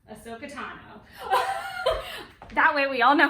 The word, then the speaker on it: Ahsoka Tano: I think it's Tales of a Jedi that I'm thinking of, but it is related to my bound for today, which is Ahsoka Tano.